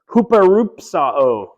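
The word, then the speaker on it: ὑπερυψόω: There's a word there with a rough breathing over a U. Do you see that? Okay. Huperupsao. Okay, so you have that H, and the first sound is H.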